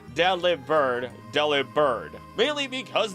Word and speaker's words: Delibird: us why it's called Deli bird Del bird Deli bird mainly because the V sound just does not exist in the Japanese language and is often pronounced as a b now as for the